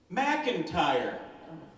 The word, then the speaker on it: McIntyre: McIntyre. It rhymes with fire.